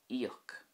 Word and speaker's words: íoc: But if you think of the Irish word to pay, which is íoc, you'll see the I fada kicking in there with the E sound. Íoc.